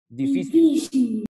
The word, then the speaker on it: difícil: Les voy a dar un ejemplo de una grave que sí lleva tilde, porque me rompe esa regla, miren. Difícil.